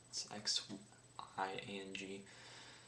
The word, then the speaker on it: Xiang: 2007 Menghai Yue Chen Xiang. It's Xiang. If memory serves me correctly, that's similar to a Chinese dynasty that I studied in AP World a couple years ago. So that's what I'm basing the pronunciation off of.